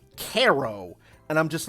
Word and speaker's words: Cairo: Like, and there's another town in New York that looks like it's spelled, it's supposed to be pronounced Cairo, like the African country, Cairo, but it's pronounced Caro, and I'm just like I have that Kermit the Frog scrunched look, like.